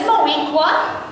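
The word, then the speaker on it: Moweaqua: The name is Moequa, rhymes with Shaniqua.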